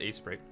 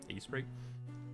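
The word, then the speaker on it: Aseprite: I use A-Sprite. I believe that's how it's pronounced, A-S-E-P-R-I-T-E, A-Sprite.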